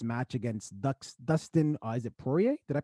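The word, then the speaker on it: Poirier: mcgregor for his match against dustin is it pourier did i pronounce that right yeah that's it okay great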